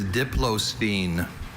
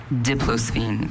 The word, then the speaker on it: diplosphene: Brian, your word is diplosphene.